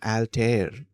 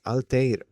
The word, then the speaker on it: Altair: So it's not even alter it's alter. Okay. Okay. Uh in standard English dictionaries it is transcribed as al short like uh alligator uh alter alter.